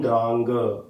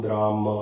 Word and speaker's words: द्रां: ओम द्रांग ending with ग होना चाहिए। ओम द्रांग द्रींग द्रोंग सह शुक्राय नमः। और काफी जगहों पर you will see ओम द्राम ending with म।